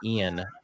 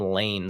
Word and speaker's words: Iain: I named him Ian, but we spell it Iain. Looks like Ian, or people call him Lane sometimes.